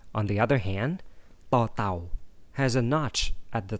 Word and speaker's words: ต เต่า: like in this 21st letter of the alphabet, tò tàu. Let's try to pronounce tò tàu together.